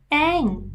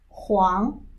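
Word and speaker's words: 黄: Ang is this character, meaning yellow color, which pronounced as Huang in Mandarin, as Wong in Cantonese, as Ang.In Hokkien Chinese and Diaoyu Chinese.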